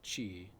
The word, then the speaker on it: ki: Yeah, I mean, I usually hear it said chi. Chi. Is it ki? It can be pronounced either way.